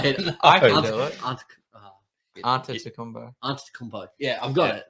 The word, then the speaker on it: Antetokounmpo: I've only just been able to start to pronounce Giannis What is now, it? now it's in my head. I can do it. Antetokounmpo.